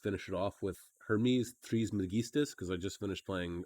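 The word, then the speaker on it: Trismegistus: it off with hermes tris magistas because i just finished playing assassin's creed odyssey and hermes is in it and his last name is threes megistis that's how it's said sorry i'm going off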